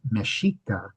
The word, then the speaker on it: Mexica: The Aztec pronunciation is a little different. Mexica is the pronunciation that's used for the original culture from which the modern country of Mexico gets its name.